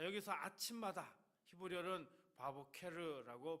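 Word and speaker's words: בַּבֹּקֶר: 자, 여기서 아침마다 히브리어는 바보케르라고 발음하는데 밤이 끝나고 첫 빛이 번지는 그 시간을 이야기합니다.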